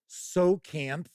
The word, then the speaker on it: Tsojcanth: Tonight, we're going to talk a little bit about S4, the Lost Caverns of Tsojcanth. That's how I'm going to pronounce it. The T is silent. The J is silent.